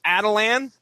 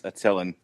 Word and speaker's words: Attilan: the Inhumans are at, and I'm going to pronounce this as Attilan. I don't know if you guys are going. No, it's Attilan.